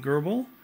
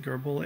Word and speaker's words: GRBL: cnc um controller boards using gerbil and i think that's how you pronounce it gerbil and uh uh the